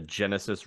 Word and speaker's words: Genesys: build characters using the Genesis system, but with the Shadowrun backdrop. You might want to spell Genesis for the listeners too, because it's spelled And weird. it's spelled Genesys. That's the Genesis role-playing system.